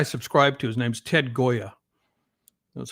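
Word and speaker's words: Gioia: His name's Ted Goya. That's how you pronounce his name.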